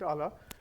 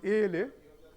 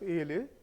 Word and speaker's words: ALA: of ala installed okay it should be pronounced as ala but while addressing the matter I pronounced Allah and sorry for that